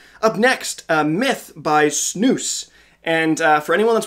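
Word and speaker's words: SNAVS: the first time uh snabs like s-n-a-v-s is pronounced snooze it blew my mind when i found this out a couple months ago but it is snooze uh it's a fairly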